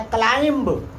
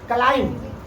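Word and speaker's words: climb: तो बोलता है क्लाइंब। क्या पढ़ता है? क्लाइम। लेकिन जब इसका सही प्रोनाउंसिएशन करोगे, उच्चारण करोगे तो यह क्या होता है? क्लाइम।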